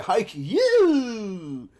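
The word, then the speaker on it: Haikyu: might be pronounced that it's spelled H AI kyu you know so haiku yeah it's about yea high Q that's the noise it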